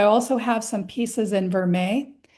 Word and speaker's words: vermeil: So I also have some pieces in vermeil. So that's Vermeil, which I've always been pronouncing vermeil, but I think it is vermeil.